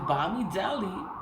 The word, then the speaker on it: Bamidele: It's Bamidele.